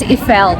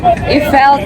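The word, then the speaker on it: Eiffel: Guys, ang pronunciation daw dito notifel. It's Ifel Tower. Ifell tower.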